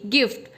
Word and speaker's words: gift: GIFT गिफ्ट, यहाँ पर भी जी के बाद आई आया है बट हमने हार्ड साउंड यूज़ किया है, GIRL गर्ल।